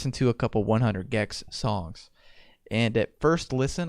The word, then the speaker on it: 100 gecs: 100 Gex, like geckos.